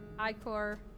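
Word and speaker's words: ichor: Blood, milk, Icor, lemonade.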